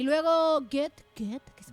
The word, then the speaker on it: Goethe: Y luego Goethe, que se pronuncia como Goethe, para los Ujú.